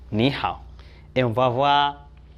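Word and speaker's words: 你好: En réalité, ce n'est pas Ni Ha, c'est Ni Hao.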